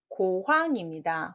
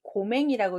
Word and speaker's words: 고황: 자, 정답은 고황입니다. 혹시 고맹이라고 읽지 않으셨나요? 눈멀맹자랑 비슷하게 생겼죠? 고황이라고 있는데요. 기름고자의 명치 황자라고 해서 심장과 횡명막 사이에 있고 병이 그 속에 생기면 낫기 어렵다고 해서 고황이라고 우리 사자성어에 천석고황이라는 말이 있거든요. 그때 한번 보는 겁니다. 맹자로 하려면 이 아랫부분이 눈목자가 돼야 됩니다. 달월자이기 때문에 명치 황자입니다.